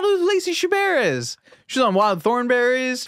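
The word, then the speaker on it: Chabert: you say this person's name Lacy chab Lacy shabar I how do you not know who Lacy shabar is she's on Wild Thornberries she's one of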